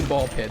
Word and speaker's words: Ball x Pit: It is technically ball pit. The X is silent.